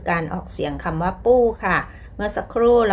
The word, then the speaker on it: 不: จะ แบบ ปฏิเสธ แบบ ปู้ แปล ว่า ไม่ ฉัน ไม่ ไป ฉัน ไม่ ทำ อะไร อย่า เงี้ย คะ ปู้ คำ เดียว สั้น ๆ เลย นะ คะ ออก เสียง 4 ค่ะ ต นี้ ปู้ ตาม